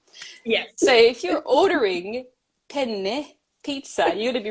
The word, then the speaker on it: penne: need to make sure I linger a little bit longer on the n in penne uh so yeah there's